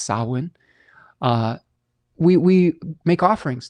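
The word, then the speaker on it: Samhain: Um, you might see it spelled phonetically as Sam Hayne, but it's pronounced sawin.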